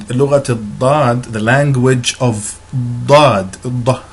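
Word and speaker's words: ض: And Lughat al-Dad, the language of Dad, that's the dark D that you see, Da. And it is, this sound is believed to be unique to the Arabic language because it is so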